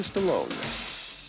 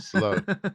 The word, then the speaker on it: Stallone: you can pronounce that can you pronounce the name of the first actor correctly Sylvester stallon no you can't it's Sylvester Stallone then Kurt Russell back